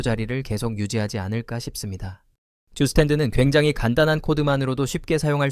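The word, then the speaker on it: Zustand: 주스탠드는 굉장히 간단한 코드만으로도 쉽게 사용할 수 있는 리액트용 상태 관리 라이브러리입니다. 듀스탠드는 독일어로 상태라는 뜻을 갖고 있으며 그래서 발음도 정확히 하자면 슈스탄트가 됩니다.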